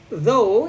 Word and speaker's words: though: Though ini bacanya though ya, bukan talk apalagi all talk. Enggak, itu bacanya though.